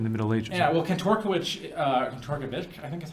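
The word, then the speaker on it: Kantorowicz: Yeah, well, Kantorkiewicz, I think is how you say it, he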